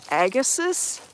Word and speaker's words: Agassiz: This whole area used to be, the theory is, Lake Agassiz. I think that's how you say it. It's spelled A-G-A-S-S-I-Z.